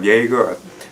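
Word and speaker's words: Jaeger: known as Grady Lavelle, who's played by Sam Yeager. That's how you pronounce it.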